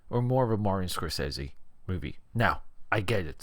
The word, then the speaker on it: Scorsese: more of a Martin sesi movie now I get it some people pronounce it as Martin score sey let's go quiet on